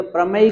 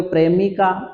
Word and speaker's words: प्रमेय: algorithm बोल दो यह प्रमेय का बोल दो परमेश का उच्चारण करने में गड़बड़ नहीं करना नहीं तो आप बोल दोगे प्रेमिका तो प्रेमिका लगे और